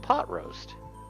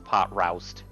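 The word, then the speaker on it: Potroast: which is of course pot roast i always as a kid mispronounce his name is pot roust because r-o-w i mean that's what it looks like but pot roust thanks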